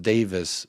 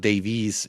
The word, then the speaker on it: Davies: katari investment um big being Welsh Jacob Ben Davies is pronounced Davis when we hear it pronounced Davies drives us up the